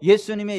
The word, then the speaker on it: 예수: 우리를 건 전해졌습니다 그래서 예수님의 이름의 이름이 예수의 여호와께서 9 원하셨다 아 그래서 히브리어 발음으로는 여 슈아 에 헬라어로 는 예수 에 우리 한걸 바람이 정확합니다 예수 영어로는 주 의 조스